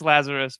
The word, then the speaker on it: Lazaros: in crime, Next Level University, Kevin Palmieri, Lazaros. Is that how I pronounce it? It's been like 6 years since we've been working together. No worries, it's Lazaros, but either way, honestly.